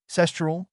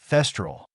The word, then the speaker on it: thestral: Dumbledore find his people cestal no thestral he emphasized his pronunciation thestral oh Naruto beamed at